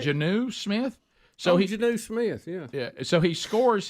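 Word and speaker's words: Jonnu Smith: video 8 how do you say his name Janu Smith is that right Janu Smith so Janu Smith yeah yeah so he scores his first ever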